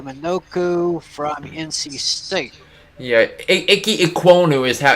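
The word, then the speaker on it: Ikem Ekwonu: offensive tackle ike minoku from nc state yeah icky ecuano is how you pronounce it oh yeah those those kind of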